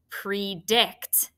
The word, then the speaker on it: predict: do we say that if it's open it has that long vowel so it's pre and then right it's closed so that's going to be a short i predict and that should be